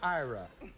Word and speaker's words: Irae: This is pronounced Ira. I-R-A-E.